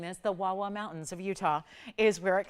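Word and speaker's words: Wah Wah Mountains: I love saying this, the Wawa Mountains of Utah is where it comes from. And yes, it is. It is spelled that way. It is pronounced that way.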